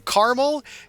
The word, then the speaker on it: caramel: thought about this actually it is two syllables I do not care that it's spelled as if it has three syllables I grew up on the East Coast I grew up saying caramel caramel just feels wrong in my face hole it's caral no not